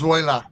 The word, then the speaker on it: Zoila: I can never pronounce that right. Zoila, Zoila. Zoila. hey, Zoila. It's Zoila.